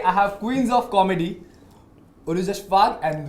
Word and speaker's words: Urooj Ashfaq: Today I have Queens of Comedy, Urooj Ashfaq and Dwijal Mehta. Did I pronounce it right?